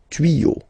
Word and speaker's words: tuyaux: You won't add S at the end, but instead of S you will put X. Okay, des tuyaux. Same rule, you don't pronounce it.